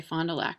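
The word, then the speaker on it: Fond du Lac: such a pretty name there are a lot of mispronounced French names around here Fondulac uh which we say fond toac for so this is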